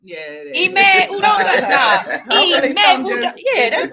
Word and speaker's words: Udoka: It's hard to say his name. Yukadoka? Yeah, Udoka. Udoka? Yes.